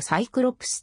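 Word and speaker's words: Cyclops: に既述の通り英語では行くロープスのことをサイクロップスと読むん単眼小学区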